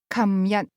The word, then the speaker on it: 琴日: The term yesterday, for example, is pronounced 琴日, in Hong Kong, beginning with a k sound.